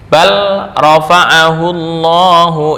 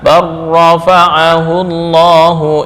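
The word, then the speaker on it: بل رفعه الله: Sedangkan untuk huruf ro yang datang setelah bal itu seperti balofa'ahullahu ilaih. Dibaca barrofa'ahullahu ilaih.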